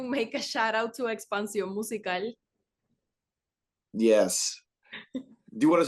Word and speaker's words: Expansión Musical: Expansión Musicale or musical.